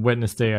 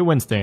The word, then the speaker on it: Wednesday: that's Sunday and then wednessday I try um or Wednesday sorry someone pointed out that I pronounce it wrong I say Wednesday now um yeah upload that